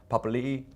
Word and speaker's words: Papalii: eyes and so it's it's been oh it's pronounced Papa Lee but there ' and by you know knowing